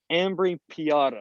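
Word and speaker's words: Ambrì-Piotta: Yeah, so it's Ambri Piata.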